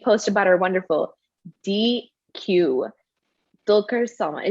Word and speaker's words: Dulquer Salmaan: But every single time we post about our wonderful DQ, Dulquer Salmaan. Is that right? Is that how you say it? That's right, Dulquer Salmaan.